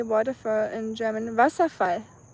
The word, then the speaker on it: Wasserfall: Wasserfall.